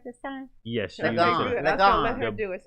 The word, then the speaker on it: Lagon: Lagon.